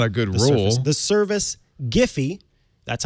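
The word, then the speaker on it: Giphy: surface that's not a good rule the service giffy that's how it's pronounced so that's how i'll pronounce it cuz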